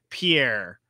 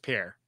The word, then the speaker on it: Paris: there there is a there is a Paris that's pronounced pier like a pier.